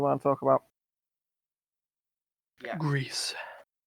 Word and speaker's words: Gris: Greece. Grease? Gris. Grease lightning. Yeah, it's supposed to be pronounced Gree, Gris.